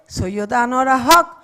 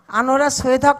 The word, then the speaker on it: আনোয়ারা সৈয়দ হক: সবাই বলে সৈয়দা আনোয়ারা হক অথবা আনোয়ারা হক অথবা কিছু একটা হক, কিন্তু নেভার আনোয়ারা সৈয়দ হক।